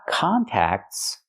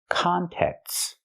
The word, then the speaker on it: contexts: a closer look so not contacts but contexts we say in contexts use the short sound like bed and red cont contexts contexts in contexts so it's correct to